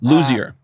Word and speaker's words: Luzier: Ray Leo, how do you pronounce Ray's last name for Korn? Luzier.